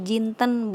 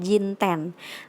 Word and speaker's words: jinten: Jadi dibacanya jinten bukan jinten.